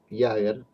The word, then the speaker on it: Jaeger: Entonces dice Iger, el pronunciar en alemán, dice, contra la poderosa